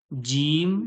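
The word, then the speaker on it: ج: দেখুন আপনারা জিম যে বলছেন জিবের মাঝখান থেকে, শিন যে বলছেন জিবের মাঝখান থেকে, ইয়া যে বলছেন ওটাও জিবের মাঝখান থেকে উচ্চারণ হচ্ছে।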